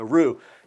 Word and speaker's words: roux: all right but in in france they don't pronounce that x so roo and um it's real